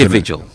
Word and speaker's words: individual: So that D you see there is pronounced as J as you see in education.